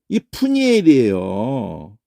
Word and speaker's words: 브니엘: 거예요 원수를 자 그러면 우선이 발음이 부가 아니고요 이렇게 이런 발음을 이렇게 만들어 버리는게 이게 낭패야 아 부부풀을 왜 다 부로 바꿔버려 아니 푸가 있는데이 푸니엘이에요 아 진짜 안타까워요 한글